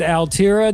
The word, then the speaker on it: ALTIRA: This is the band ALTIRA. Did I pronounce that correctly?